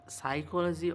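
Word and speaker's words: psychology: এখানে ভিতরে যাই, ভিতরে গিয়ে আমরা দেখব একটি সব থেকে ভালো বই, যে বইটার উচ্চারণ আলাদা কিন্তু স্পেলিং লেখা আছে আলাদা। দেখো, দ্য সাইকোলজি অফ মানি, কিন্তু দ্য সাইকোলজি অফ মানি স্পেলিংটা শুরু হয় পি দিয়ে, যেটা কি আমি আগে জানতাম না।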